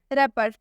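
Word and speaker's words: wrapper: सा साइलेंट हो जाएगा डब्लू का उच्चारण हम नहीं करेंगे रैपर रैपर मतलब होता है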